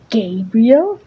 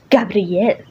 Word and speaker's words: Gabriel: no it's not pronounced gabriel it's pronounced gabrielle